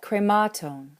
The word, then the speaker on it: χρημάτων: Krematon, of the things, or of the money, has a long last syllable, so it pulls that acute forward towards it, and you get krematon.